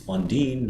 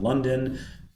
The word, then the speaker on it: Lundeen: It's Lundeen, not London, even though that's how it's spelled.